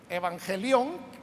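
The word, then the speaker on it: εὐαγγέλιον: palabra evangelio de hecho evangelion que así se pronuncia en el griego evangelio es la raíz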